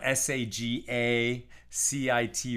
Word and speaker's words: sagacity: a CI Ty y somebody said it's pronounced with a hard G and I don't know what a hard G is but I guess it's a g like as in girl uh so the word